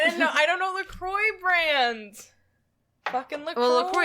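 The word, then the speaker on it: LaCroix: It rhymes with lashes. Lacroy.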